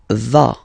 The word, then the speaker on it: vas: Final S doesn't exist. Tu vas.